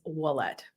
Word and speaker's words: Wallette: in case you're wondering how to pronounce my last name it's wallette sometimes people ask me